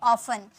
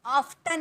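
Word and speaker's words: often: अक्सर या प्राय, उसके लिए ऑफन। यहाँ पर टी साइलेंट होता है, बोला जाता है ऑफन, ऑफ्टन नहीं, ऑफन।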